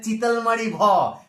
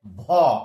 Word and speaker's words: ভ: আসলে সেটা বলার কোনো দরকার নেই, সেটা অরিজিনাল জিনিস নয়, ব্যাকরণ সেই কথা বলে না, ধ্বনিতত্ত্ব উচ্চারণ তত্ত্ব সেই কথা বলে না, এর নাম হচ্ছে ভ, এর নাম কি বললাম ভ।